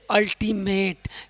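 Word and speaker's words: ultimate: अब मेरे लाडलो कह रहा है कि जब किसी वर्ड में शुरू में यू हो तो उसका उच्चारण अ देते हैं। जैसे अल्टीमेट।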